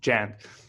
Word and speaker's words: Jan: thank you very much is your name pronounced yawn yeah it's yawn but you can call me Jen no I'll try to